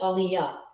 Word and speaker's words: Aaliyah: what I am the brooklyn-born Detroit raised Aaliyah pronounced Aliya is Riding High on the success of her